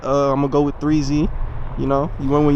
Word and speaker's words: 3XXZY: I wanted to find a name that was short but dynamic, and I felt like 3Z, even though it may sound simple, but the way I spell it is 3XXZY, and the 3 comes